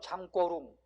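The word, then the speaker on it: 청룽: 장구경 안 돼. 뭐라고 해야 돼? 중국 발음은 장꼬룽.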